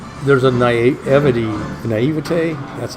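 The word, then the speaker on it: naïveté: things you know there's an i8 evety and naivete that's how you say it French I've never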